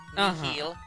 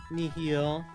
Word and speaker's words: nihil: Like, that is how you would pronounce it in Latin. Nihil. Nihil. But, like, in terms of, like, tying it to the English word, like, annihilate, like, or nihilism.